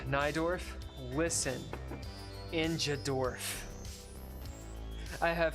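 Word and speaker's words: Najdorf: is it yeah yeah notes pronounced naidorf listen injad dorf I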